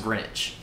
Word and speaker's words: Greenwich: But that's also where, because she's saying it wrong, it's actually pronounced Greenwich.